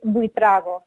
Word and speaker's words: Buitrago: And it is -Buitrago, as you say it in the English or American pronunciation. In Spanish, it's Buitrago, so I wouldn't expect anybody to say that.